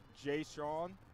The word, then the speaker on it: Jaquise: Say it like Jay Sean.